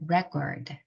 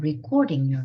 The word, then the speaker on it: record: 발음해 볼게요 Record Record 자 rec 강세가 여기 있으면요 이름 절에 있으면 명사입니다 그래서 기록이라는 명사가 됩니다 무언가를 지칭하는 말 뭔가의 이름 명사 Record 이렇게 발하시고 자 기록하다 동사가 되면요 완전 강사가 달라져요 완전 발음이 달라지는 거죠 Record Record I'm recording Voice 나 우리 대화를 녹음하고 있어 recording 강세를 뒤에다 주셔야 돼요 그래야 동사가 됩니다 그래서 굉장히 중요하겠죠 자